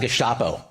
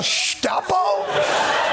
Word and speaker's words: Gestapo: that heated rhetoric calling law enforcement names like Gestapo. I'm sorry. Oh, I'm sorry. Could you Could you pronounce that again? You went FULL GUSTAPO.